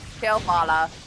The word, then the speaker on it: Kalevala: How do you pronounce that? Kalevala.